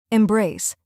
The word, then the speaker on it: embrace: Mindset, Embrace, embrace. 2 syllables. Stress on the second part.